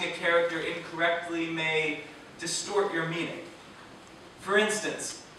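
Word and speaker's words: 妈: pronouncing a character incorrectly May distort your meaning for instance the word for mother is ma pronounced with a high flat pitch like a musical note drawn out on the other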